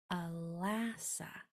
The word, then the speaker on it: Alassa: So the sounds are ul, a, s, Alassa. Alassa sounds a lot like Alaska, just without the k.